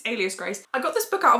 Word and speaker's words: Alias Grace: Margaret Atwood in there I in my head have been pronouncing it Elias Grace but it's it's Alias Grace I got this book